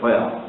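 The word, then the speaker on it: Furr: Есть такой исследователь Гровер Фурр, по-русски пишем Гровер Фурр, а по-английски пишется соответствующие латинские буквы, читается Ферр.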